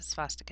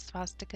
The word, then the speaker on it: swastika: Comes from the Sanskrit swastika, which actually you would pronounce this swastika in German as well because W's are V's, meaning it is well-being, good existence, and good luck.